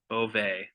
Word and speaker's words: Bovee: However, my real name is pronounced Bovee. It's almost like it's Bovay, but it's Bovee.